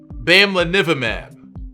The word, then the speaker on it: bamlanivimab: obsessed with how difficult this name is to pronounce. For the record, bamlanivimab.